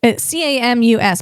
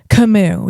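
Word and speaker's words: Camus: His name is, it's Albert Camu, Cam Mus, but he's a French Algerian philosopher. And his last name is pronounced Kimu, even though it's spelled Cam Us.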